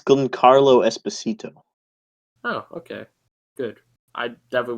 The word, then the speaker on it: Giancarlo Esposito: Like, maybe you can pronounce it, go. Well, it's Giancarlo Esposito.